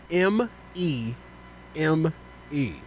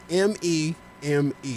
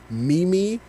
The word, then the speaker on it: meme: this one you're going to know very well m e m e oh i know that one m e m-e-m-e how do you pronounce m-e-m-e how do i pronounce it yes